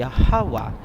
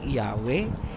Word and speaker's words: Yahawa: Ang pangalan ng ama ay Yahawa, hindi Yahweh, hindi Jehovah, hindi Ahaya, hindi Yahuwah, at mas lalong hindi Jesus Christ.